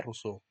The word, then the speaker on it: Rousseau: Don Juan Jacobo Rousseau se pronuncia Rousseau.